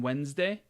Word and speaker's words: Wednesday: That's why there's an N and that's why there's a D in Wednesday, even though we don't pronounce it.